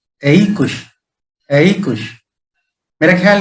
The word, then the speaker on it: aequus: पहला है AEQUUS, इसका उच्चारण है एइकुश। एइकुश, हालांकि स्पेलिंग आपने देखा होगा AEQUS, लेकिन इसका लैटिन भाषा में उच्चारण होता है एइकुश।